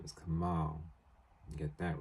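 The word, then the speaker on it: Kamaal: Kamal and Ali were no his name is Kamal get that right I will get that right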